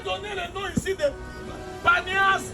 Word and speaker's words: Banias: As Arabs could not pronounce P, then they called Et si vous Banias. demandez à tout le monde ici, ça s'appelle aussi Banias.